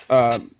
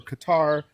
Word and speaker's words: Qatar: So the reason I say any of this, Zeus, is going back to Qatar or Qatar. Some people pronounce it differently.